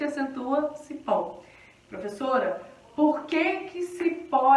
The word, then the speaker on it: cipó: Palavra cipó. A sílaba forte, então, é pó. Cipó, né? Sílaba forte, pó.